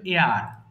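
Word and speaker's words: heir: উত্তরাধিকারী এটা হিয়ার হবে না? না, হিয়ার। এইচ এর উচ্চারণটা সাইলেন্ট হবে, হ্যাঁ, এটা হবে এয়ার, এয়ার হবে, হ্যাঁ, আর এটা ইয়ার।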